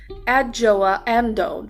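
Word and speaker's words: Adjoa Andoh: I feel about it because she this um adjoa amdo that's how you pronounce her name I actually had to go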